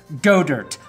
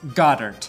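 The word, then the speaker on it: Goedert: on the field and is pronounced go dirt like go-gurt even if Dallas says it Goddard watch Goddard the wards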